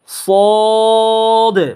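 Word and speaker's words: صاد: পড়তে হবে যেমন সদ মোটা আওয়াজে সদটা উচ্চারণ করবেন সদ সদ একই জায়গা যা যেই জায়গা থেকে উচ্চারণ হয়েছে সিন যেই জায়গা থেকে উচ্চারণ হয়েছে সদ একই জায়গা থেকে উচ্চারণ হয় জিহ্বার আগার সামনে দাঁতের নিচে দাঁতে দাঁতের আগার সাথে এই সদ উচ্চারণ হয় কিন্তু এই আওয়াজটাকে মোটা করে দিয়ে পড়তে হয় এ সদের উপরে যখন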